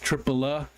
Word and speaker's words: Tripoli: Tripoli is pronounced Tripola, and Nevada is Nevada.